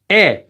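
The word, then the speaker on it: 의: This one is pronounced as e. It's pronounced as this vowel, e. whenever it's being used as the possessive marker.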